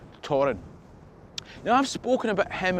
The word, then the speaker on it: Thorfinn: Now, the high point of that Arcadian Norse power in the area was under Torrin Sigurdsson, Torrin the Mighty, spelled Thorfinn, but I'm assured it's pronounced Torrin.